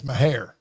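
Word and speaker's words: Mexia: how how do you how do you say the word me x i a Mah now if you live up there it's mahare okay but I'm with you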